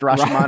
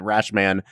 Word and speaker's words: Rashomon: that Brad knows that it's actually pronounced Rashomon, or do I just let him pronounce it Rashman and add nothing to that?